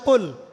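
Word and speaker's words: قل: যেমন একটা অক্ষর আছে কফ। বড় কফ। যেমন কফ দিয়ে একটা শব্দ আছে কুল। আপনারা সূরায় পড়ছেন নামাজে কুলহু আল্লাহু আহাদ। তাই পড়ছেন না? তো এই কুল শব্দের অর্থ হচ্ছে বলুন। কিন্তু আপনি যদি কফ এর মাখরাজটা ভুল করেন এবং কফ না বলে আপনি ছোট কাফ পড়েন এবং কুল না পড়ে আপনি কুল পড়েন। বলেন যে কুলহু আল্লাহু আহাদ। তাহলে অর্থটা পরিবর্তন হবে।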